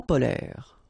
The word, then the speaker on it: polaire: So same thing here. E and S are not pronounced. Polaire, okay?